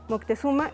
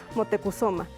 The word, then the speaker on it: Motecuhzoma: que sería el viejo la pronunciación que ahora le damos fue la dada por parte del fue la dada por parte de los españoles pero en las fuentes mexicas la encontrarán como motecuhzoma lo mismo pasó con